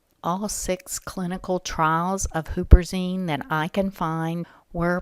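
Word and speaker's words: huperzine: to talk about is Hooper Zine you also see it pronounced Hopper Zine but Hooper is the most common way of saying it this is an alkaloid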